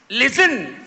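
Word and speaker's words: listen: கல்லூரி இதோ உங்களுக்கான கேள்வி லிசன் எனும் சொல்லை உச்சரித்து அதிலுள்ள அமைதி எழுத்து யாது எல் ஐ எஸ் டி இ என் அமைதி எழுத்து டி லிசன் லிசன் என்பது சரியான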